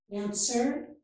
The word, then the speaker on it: answer: Here, we do not pronounce the letter W, so this is answer.